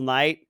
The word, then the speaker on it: Knight: You're just missing one letter, but pronunciation doesn't change. So Okay, instead of Michael night, Knight. as in Night, Nighttime. Yeah.